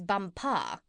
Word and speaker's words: Bumpar: She became his chief wife, and is now known out there as the Crown Princess Bumpar. You accent the last syllable."